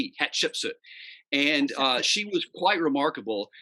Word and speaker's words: Hatshepsut: And it's kind of easy to say her name if you think about it in different segments. So Hatshepsut, hat like a hat, Shep, Shepsut, Hatshepsut.